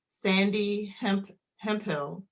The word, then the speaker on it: Sandee Hemphill: And then we also have Sandee Hemphill.